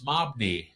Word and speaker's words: Mohney: No, it's really not Mahoney. It's Mobney. Well, you sure it's not Mooney?